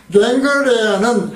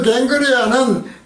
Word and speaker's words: 겐그레아: 갱그레아는 헬라어 발음이죠. 캥그레아이죠.